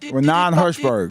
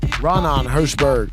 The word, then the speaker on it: Raanan Hershberg: Raanan Hershberg. Raanan Hershberg.